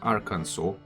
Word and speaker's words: Arkansas: Thanks to one guy from YouTube telling me how to pronounce Arkansas. It's Arkansas.